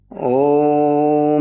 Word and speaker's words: ओम: One third में ओ two third में म उसके बाद ध्यान में प्रवेश करेंगे।